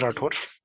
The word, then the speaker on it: Rathore: हाँ, इनके लिहाज से ये आपका नाम है हसान, हसान राठौर। इवन आपको ये राठौरे करके भी बोल सकते हैं।